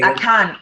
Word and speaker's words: Akan: Akan, yes. Okay. The Ashanti people are part of the Akans. Okay. What other tribes are part of the Akans? So Akiapims are Akan, Achims are Akans, Fantis are Akans, and it's like we speak Chi.